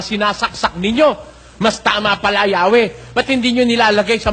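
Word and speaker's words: Yahweh: inyo Sabi nila rito while inclining to view the pronunciation yahwe as the more correct way since 14 century Dito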